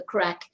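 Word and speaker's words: craic: And for anyone who's not Irish and wondering what we're saying when we say the crack, it's spelled C-R-A-I-C, and it's the Gaelic, and it actually means fun.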